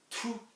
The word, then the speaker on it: tous: And if you're not talking of all of something, so all the, yeah, then you're not going to be using the, you're not going to be pronouncing, you are going to be pronouncing the S.